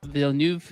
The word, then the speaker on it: Villeneuve: I believe that Villeneuve, is that how you pronounce his last name?